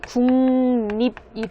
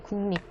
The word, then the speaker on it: 국립: 근데 발음에 좀 유의하셔야 되는데요. 이 발음은 국립이 되겠습니다. 네, 국립. 그래서 국립공원 이렇게 읽으셔야 되고요.